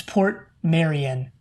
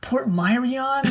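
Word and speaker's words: Portmeirion: anything speaking of pronunciations i found out how to pronounce the name of the town it's port marion port marion and glen once you yeah once you know that it's pretty dang obvious that that's how it's pronounced yeah yeah actually we were like what port myrion like what port marin like what no it's port mary we probably got a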